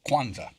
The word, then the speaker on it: Kwanzaa: This being the day after Christmas, it also is the first day of Kwanzaa. I pronounced it right, didn't I? Yes, you did. Kwanzaa.